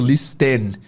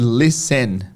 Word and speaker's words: listen: Sempre que você ouvir a palavra list, que é ouvir, é primeiro que o T é mudo na pronúncia. Você não vai ouvir o pessoal falando listen, é sempre listen, tá?